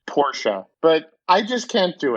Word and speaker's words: Porsche: bat i know that you're supposed to pronounce it porsha but i just can't